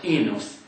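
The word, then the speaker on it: οἶνος: Wine, oinos or enos, according to the modern pronunciation.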